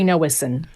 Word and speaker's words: Nowocin: With us, you may have to help me with the pronunciation of your last name. Hi Alan. Yes, yes, Noeison.